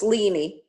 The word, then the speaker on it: Leanie: pronouncing your name correctly no it's leanie lenie okay thank you so